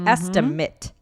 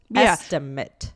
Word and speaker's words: estimate: So, but what's interesting is that, the noun is pronounced not with an ATE sound. It's kind of more like an IT, right? Estimate. Estimate.